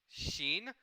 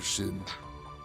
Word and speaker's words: Xin: So this boy's name is Xin, as in Xin. However, if you use the Taiwanese Romanization system, then it's spelled H-S-I-N instead of X-I-N. Mr. Shin.